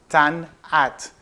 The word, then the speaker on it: Tannat: your favorites list here's our definitive guide to tan app pretty simple one to pronounce tan hat that's the way it should be pronounced the